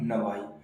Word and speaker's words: know: ऐसे ही नो, KNOW नो, तो यहाँ पर क्या के साइलेंट हो जाएगा।